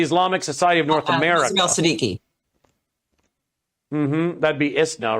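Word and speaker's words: Siddiqi: Siddiqui.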